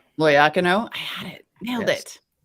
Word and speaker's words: Loiacono: loyacano where does that where's the emphasis go and you're pretty pronouncing your last name ah loyacano i had it nailed